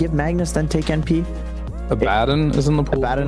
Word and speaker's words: Abaddon: It is Abaddon. It is Abaddon, yeah.